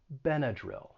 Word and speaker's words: Benadryl: anybody have any benadryl and with this one again that second syllable has the schwa benedryl and the y is actually going to have a short i sound this time benadryl benadryl so with tylenol that